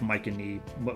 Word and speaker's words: Mycenae: Yes, there is a real-life Mycenae, whatever that is, which is in Greece.